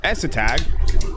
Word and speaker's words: ESTAG: Essetag, that's how the name's pronounced, is coming from a heroic team that's on the brink of being sold to Chinese organization Fun Plus Phoenix.